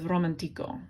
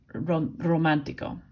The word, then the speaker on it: romántico: It has an accent mark on the A. That makes you say romántico instead of romantico, because the automatic emphasis would be on ico, the second to last syllable for pronunciation. So this accent mark is forcing you to pronounce it romántico. It's putting the emphasis there.